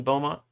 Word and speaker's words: Beaumont: so i um oh the t is silent in beaumont okay well that's good